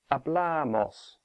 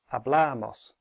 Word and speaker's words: hablamos: have our blah or a Blair Maus that has three syllables a Blair Maus so the stress is on the penultimate one hablamos no matter how quickly said a blah MOS in the yo form